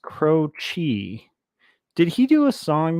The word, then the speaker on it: Croce: Okay, it's pronounced Croce.